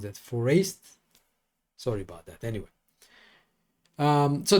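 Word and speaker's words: Foreest: Yeah, it should have rhymed with waste, but I don't know how to pronounce that. Forest.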